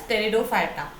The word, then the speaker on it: pteridophyta: And first we'll discuss about thallophyta, bryophyta, then I will explain you about the pteridophyta. So students, next is pteridophyta. In this P is silent. We will pronounce this as pteridophyta.